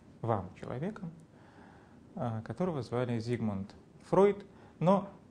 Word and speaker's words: Фрейд: звали Зигмунд Фройд, но поскольку традиция состоит в произнесении этого имени в этой фамилии иначе, в русском языке это произносится Фрейд, то я буду именно так и говорить, вот, хотя на самом деле это был Фройд, конечно.